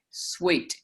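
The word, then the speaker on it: suite: if you have the word suit and put an E on the end of it, you pronounce that sweet.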